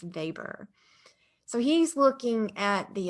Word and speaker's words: Weber: our second max weber it's not pronounced weber it's pronounced weber so he's looking at